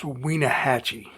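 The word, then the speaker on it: Wenatchee: And I believe it's pronounced Wienahatchee.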